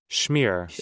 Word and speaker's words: schmear: How do you say schmear? Is it schmear? Smear? Schmear. It is schmear.